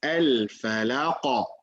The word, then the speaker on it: الفلق: So the correct way, not to say al-falaq. Some people say al-falaq, and just like that, it's very silent. You cannot hear it. The correct way is al-falaq.